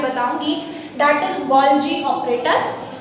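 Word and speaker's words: Golgi: में बताऊंगी that is गोल्जी apparatus. कुछ लोग इसको गोल्गी भी प्रोनाउंस करते हैं।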